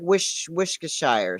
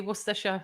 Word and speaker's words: Worcestershire: It's funny trying to get Americans to say Worcestershire, and obviously when the way it's spelled down sounds totally different.